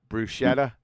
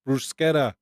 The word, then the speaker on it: bruschetta: Like the way you say tortilla, that kind of thing.